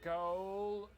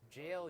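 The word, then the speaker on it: gaol: shit the viaduct Tavern goal it's jail you idiot exactly you just spell it back in Old English times you can end up in jail I feel like my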